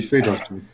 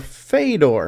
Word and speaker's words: Fedor: No, that'd be Fedor.